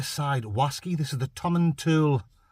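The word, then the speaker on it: Tomatin: wasy this is the tommen tool it's spelled t to but I think it might be a silent te might just be Tom and T laugh if I'm wrong dingo man dingles correct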